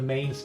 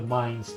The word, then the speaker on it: Mines: It's like for a while I called it the Mains Mining Town, and then I realized it's the Mines Mining Town. It's just mines with the phonetic pronunciation.